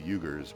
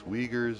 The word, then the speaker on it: Uyghurs: I thought it was the Uyghurs, but like it's Uyghurs is how they pronounce it, which I was cracking up last night because it sounds like.